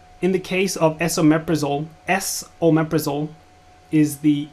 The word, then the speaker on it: esomeprazole: So you could actually just write S, the letter, omeprazole, but they put ES so that it's clear that you're looking at pronouncing it correctly as S or meprazole.